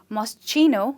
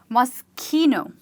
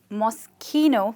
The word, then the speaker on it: Moschino: But I hope she's not calling it Moschino, which is actually wrong. Yes, it does say Moschino, but in Italian, CH is not pronounced as ch, but it's rather pronounced as k.